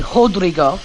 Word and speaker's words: Rodrigo: It's actually Rodrigo. All the Rodrigo pronounces as H. It's like Royce Gracie.